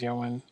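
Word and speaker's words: Ioan: I want to say his name is Yoan, or I want to say that's how you pronounce it. Yoan Grufford, who played Reed Richards.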